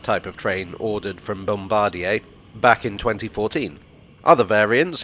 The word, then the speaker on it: Bombardier: 345s were built by Bombardier transportation which I'm told is not pronounced Bombadier or indeed bombad they're part of the